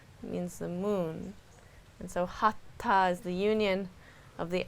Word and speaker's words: Hatha: So in the anatomy of Hatha Yoga, how do you pronounce that? Hatha.